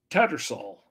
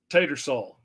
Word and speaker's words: Tattersall: to say his name the H is silent tattersall it's hard to take that H out it's hard to see it there and not say it Tater saw okay tater salt potato